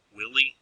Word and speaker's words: Wiley: Willie is the way that I pronounce that name. I've actually had two students with that last name. One was Wiley and one was Willie. So I'm going to say Willie, and if I interchange the two, forgive me.